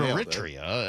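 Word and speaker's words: Eritrea: Well, it's a little iffy because I say I've always heard Aritria and then you listen to a lot of the Brits say it and they kind of say Aritria.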